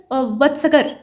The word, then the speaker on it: वत्सकार: कि अजात शत्रुज मिनिस्टर वत्सकर, ये वत्सकर या वत्साकार नाम के जो इनके मंत्री थे, असल में वत्सकार ये इनका नाम था, लेकिन यहाँ थोड़ा बिगाड़ कर इतिहास में प्रोनाउंस किया गया है, कोई बात नहीं।